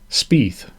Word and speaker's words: Spieth: Spieth. It's spelled Spieth, like teeth.